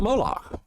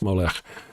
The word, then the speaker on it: Molech: So, one time we were talking on here about Moolak and we molec probably must better pronounce Molech.